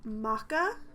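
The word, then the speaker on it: M'aka: father is yes um Maca spelled m apostrophe AKA maca um did was there indic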